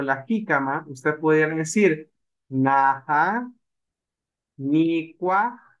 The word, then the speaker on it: jícama: pepino, y shigamah, la jícama. ¿Sí? Recordemos, los españoles no podían pronunciar la SH y ¿qué hicieron? La cambiaron a J. Jícama. ¿Sí? Y ahora decimos jícama.